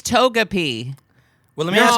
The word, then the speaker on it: Togepi: Taka- Taka- It feels like if we're To- mispronouncing Togepi. this, Togepi. It's Takamochi? Togepi. Is it racist that Is we it can't pronounce Takamochi? it? It's Togepi.